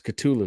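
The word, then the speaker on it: Cthulhu: things up we got cthulu death may die issue culu really it's culu yes oh okay here we go I stand corrected my apologize silent oh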